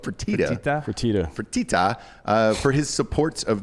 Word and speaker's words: Fertitta: motivation behind wanting to leave is owner Tillman Fertitta, which is always a fun name. it's the best name in all of sports. Am I saying that right? I have Fake no Dan? idea. Fertata?